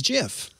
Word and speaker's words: GIF: you say it's gif no it's jif you understand my confusion no confusion there shouldn't be just cause some guy no he's not some guy we wouldn't have gifs if it wasn't for him he made this do we really want gifts is the question i don't want gifts but i do want wait a gifs he says it should be jiff yes okay so i'm gonna